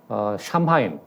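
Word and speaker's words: Samhain: 그런데 바로 이 겨울을 맞이하는 샴하인, 뭐 그때 당 켈트족으로는 사무인이라고 발음을 했던 모양이었는데 영어식으로 그냥 샴하인이라고 발음을 하겠습니다.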